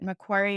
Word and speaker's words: Macquarie: She obtained a full scholarship from the Mexican government to pursue a master's degree in wildlife conservation at Macquarie University in Sydney, Australia. So cool. And did I pronounce that right too, Macquarie?